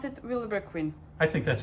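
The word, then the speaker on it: Vilebrequin: not so how do you pronounce it i pronounce it willowbrook queen i think that's correct actually i have wondered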